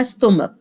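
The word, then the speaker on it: stomach: دلوقتي اسمها ستو ستوما انا عارفه ان انت اللي عارف ان السي اتش بننطقها تشا صح هنا هننطقها ك فهكتب لك فوقيها حرف الك وفي كتابك تكتب فوقيها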